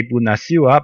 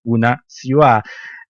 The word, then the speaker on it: Bună ziua: introduction when I introduced Julian in Romanian, I pronounced it wrong. I used to say Bună ziua, but it is actually Bună ziua.